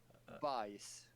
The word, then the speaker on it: BIS: And if you pronounce BIS in Swedish, what do you get? BIS. No, not you pronounce the English sounds of BIS, but you say it in Swedish. You go ahead. Bajs.